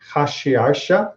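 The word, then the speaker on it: אחשורוש: And indeed, Ahasuerus, especially when you see it in some of the other forms in the Aramaic or in Hebrew, where we pronounce it Hashiarsha, right, and other pronunciations,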